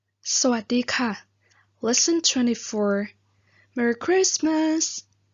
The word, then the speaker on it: คริสต์มาส: and then christmas just christmas but we did not pronounce the t so we just say christmas or actually christmas we